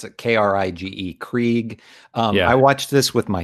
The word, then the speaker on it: Krige: I don't know how you pronounce it. K-R-I-G-E, Krieg.